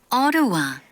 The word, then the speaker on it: Ottawa: 네, 네팔 이렇게 발음해야 돼요. Ottawa, 네, 어더와, 네, 어로와, 네, 어로와.